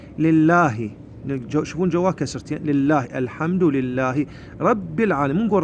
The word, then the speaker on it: الحمد: زين هنان اول ايه نقول الحمد هاي الهمزه الراس الصاد الصغيره همزه الوصل تتحول الى همزه قطا نقول ا نقول الحمد مو نقول احمد لا ال ال هذا اللام يظهر نقول الحمد لله هذا